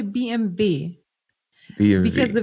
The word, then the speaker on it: BMW: the way the same the same goes for BMW B BM what BM what we say BMV it's BMV BMV BMV yeah that's so crazy yeah you just say BMV BMV because the V